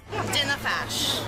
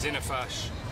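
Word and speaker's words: Dinna fash: Dinnafash. Dinnafash. Dinnafash. Fantastic pronunciation.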